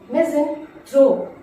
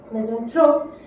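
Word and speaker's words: misanthrope: Notice the pronunciation, मिज़ेंथ्रोप, मिज़ेंथ्रोप is that person who hates mankind or humankind।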